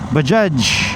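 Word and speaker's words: Bajaj: Nasubukan natinung ibang bikes espcially Baja Bajage. Yun pala yung tamang pronunciation.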